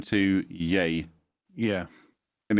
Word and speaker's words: Ye: changed his name to yay yeah and it's just Y and but but it's pronounced yay yeah come on why